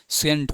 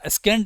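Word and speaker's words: scent: सेंट हो जाएगा, सेंट, है ना। स्केंट मत पढ़ना, ये सेंट है, खुशबू। ठीक है, हाँ सेंट है, एस साइलेंट है सर, CENT।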